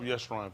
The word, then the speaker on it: Yeshrun: Look up Yeshrun for him so you can see what it means.